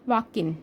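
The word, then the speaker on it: Joaquin: तो इसकी प्रोनाउंसिएशन होती है वाकिन। ठीक है ना? वाकिन कहा जाता है इसको।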